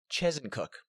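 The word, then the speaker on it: Chezzetcook: Chesetcook? See, that's normally what you'd think. But if you're from there, you pronounce it Chesencook. I don't know where they get the N.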